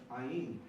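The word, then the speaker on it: עַיִן: The next one is Ayin. And this has the property, just like Alef, it's silent.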